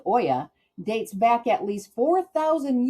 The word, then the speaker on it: olla: Olla irrigation, Olla, looks like Olla, but pronounced Oya, dates back at least 4,000 years to ancient China and Persia.